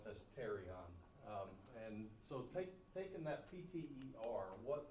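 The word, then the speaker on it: pterion: PT I in okay so the p is silent that's terion and taking that PT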